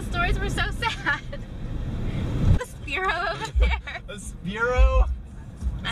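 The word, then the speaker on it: Spearow: It's spelt Spiro. Right, it's pronounced Sparrow.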